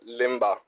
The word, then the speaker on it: Lemba: worries no worries so L tell am I pronouncing your name right uh it's PR sister Limba Limba Limba so tell me your seeking story